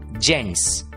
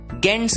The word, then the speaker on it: gents: दोस्तों, ये शब्द हमने बहुत जगह देखा होगा और इसका उच्चारण होता है जेंट्स। आप सोच रहे होंगे जी की आवाज तो हमने सीखी है ग, तो इस शब्द का उच्चारण गेंट्स क्यों नहीं?